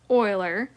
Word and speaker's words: Euler: there's some special types of logarithms so Leonard Euler so it's pronounced Euler was an accomplished Swiss mathematician his career spanned